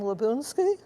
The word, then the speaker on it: Labounsky: jean langley good afternoon my name is lebunsky many people mispronounce it but now you know how it's